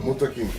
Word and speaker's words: Muntaqim: Jalil Muntaqim, 3 syllables. Muntaqim.